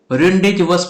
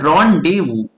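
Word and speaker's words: rendezvous: ठीक है, जैसे बहुत लोग ये वर्ड को रेंडेजवस पढ़ते हैं, लेकिन इसका जो रियल प्रोनाउंसिएशन है साथियों वो है रॉन्डेवू। ठीक है, इस वर्ड को हम क्या पढ़ेंगे, इस वर्ड को पढ़ेंगे हम रॉन डे वू। ठीक है, एक साथ रॉन्डेवू।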